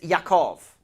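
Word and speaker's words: יעקב: Wrestling is pronounced Yakhaveed and that is and Jacob's name in Hebrew is Yakov.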